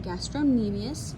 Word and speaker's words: gastrocnemius: this back on is the gastrocnemius that c is silent gastrocnemius also known as the